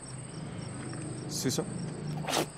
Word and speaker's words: suso: Suso. Hindi accent on the first syllable. Hindi sa second. Suso means nail.